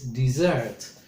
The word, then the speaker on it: dessert: Notice the pronunciation of the third one, which is dessert. Although it's spelled with double S, the pronunciation sounds as if it should be one S.